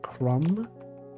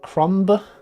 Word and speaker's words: crumb: Crumb. The B is silent. Crumb.